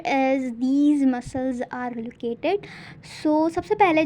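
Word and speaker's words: psoas: sauce minor ठीक है तो इसको प्रोनाउंस हम करेंगे सॉस ठीक है तो सॉस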